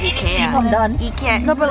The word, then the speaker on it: IKEA: No, the Swedish pronunciation is Ikea.